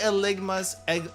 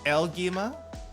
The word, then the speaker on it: Eligma: It's Eligma. It's actually called Eligma. What are you talking about? Who said Elgima? No, it's not Elgima.